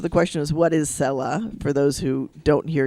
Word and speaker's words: Selah: Usually that's how the Hebrew is pronounced, Selah. Okay, I'm glad you Odie said hallelujah. that, Selah.